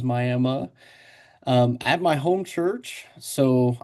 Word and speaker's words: Miami: Brandon Fletcher in Miami, Oklahoma, which is spelled Miami, but a lot of Native Americans here, a lot of tribes here, so it is Miami.